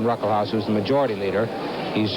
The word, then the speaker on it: Ruckelshaus: The first S in his name is pronounced, it's silent. William Ruckelshaus, who's the majority leader, he's just 35 years old.